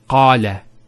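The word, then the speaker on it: قال: First one here is qala. Notice the elongation of the A sound. Qala. Not qala, qala.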